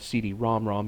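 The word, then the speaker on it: CD-ROM²: ROM system so uh actually I should have said CD ROM ROM because it's got the super script too uh that's how you would pronounce it at least that's what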